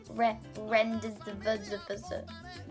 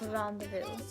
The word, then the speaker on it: Rendezvous: And at first I was pronouncing this like Rendezvous. No, Christina. No, Tina. It's Rendezvous. Rendezvous. That's like my new favorite word now.